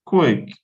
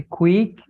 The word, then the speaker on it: quick: you like all quick is that silentator or not the the U silent and quick quick violent yeah so your Q is giving you quote your Q gives you equal your I gives you a and your CK gives you so you have quick okay uh how about